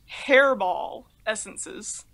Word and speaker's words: Herbal Essences: So instead of pronouncing it herbal essences, you could potentially pronounce it hairball essences, which sounds really unappealing for a name of shampoo.